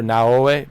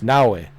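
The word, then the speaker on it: Naoe: Same thing with uh Nawi. I used to call her Naei, but it's not Naoi, it's Nawei.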